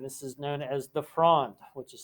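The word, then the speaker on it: Fronde: so there would be some rebellion amongst the lower nobles from 1649 to 1652 and this is known as the frond which is spelled fro and f-r-o-n-d-e and when this happens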